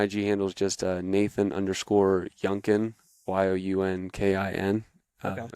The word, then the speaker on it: Younkin: My IG handle is just Nathan_Younkin, YOUNKIN. Okay. It's just pronounced just like Duncan, but with a Y.